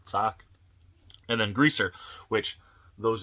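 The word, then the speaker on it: Socs: At least that's how I pronounce. Man, is that right? Socks. It's not Soch, I don't think, because this is how I abbreviate Soch, like Social Security number, SOC. I believe it's sock, like foot sock, and then greaser,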